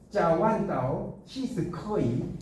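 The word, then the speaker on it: 朝聞道夕死可矣: 이걸 중국어로 읽으면 짜완다오 시스커이 이렇게 돼요.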